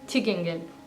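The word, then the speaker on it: til gengæld: इसको आपको प्रोनाउंस करना है छिकेंगेल.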